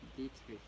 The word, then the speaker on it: Dietrich: Dietrich.